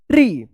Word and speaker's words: tree: तो double E जब एक साथ रहता है तो इसका रूल्स हम लोग क्या पढ़े थे कि इसका ई उच्चारण होगा, ई। तो क्या पढ़ेंगे इसको, सी अ। पढ़िए इसको क्या पढ़ेंगे, TREE ट्री।